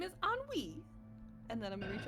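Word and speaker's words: Ennui: I'll uh what's her name my name is anwi and then I'm gonna reach out my hand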